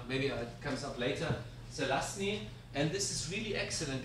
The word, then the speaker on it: Zelazny: There's a book from this guy, very difficult to pronounce. So it's Z-E-L-A-Z-N-Y, Zelazny.